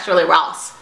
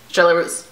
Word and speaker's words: Charlotte Russe: It's not Shirley Ross. Russe. Shirley Russe.